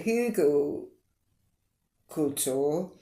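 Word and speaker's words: Hügelkultur: and biochar which I will explain so a hugle cultour um it's spelled h u with the uml you know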